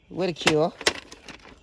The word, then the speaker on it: Ridicule: This one is Ridicule.